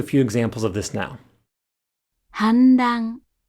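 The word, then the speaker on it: 反乱: 反乱、反乱、反乱。犯罪、犯罪、犯罪。 Before R and Z, the hatsuon is said as a voiced alveolar nasal.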